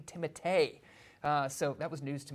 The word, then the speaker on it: Timothée: Part 1 left off, Timothée Chalamet, or is his name pronounced Timothée Chalamet? I heard an interview this week. Yeah. Yes, an interview this week said his name is actually Timothée.